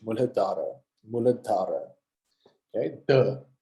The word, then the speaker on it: Muladhara: Can you see that H there after the D? That means that the sound is exasperated a bit. So it's not Muladhara, it's not Muladhara, it's Muladhara.